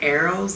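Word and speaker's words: arils: think you pronounce it arrows, the pomegranate arrows.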